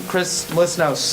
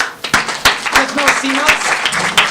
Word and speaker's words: Chris Melissinos: So please help me in welcoming Chris Melissinos. Chris Melissinos? I pronounced it right.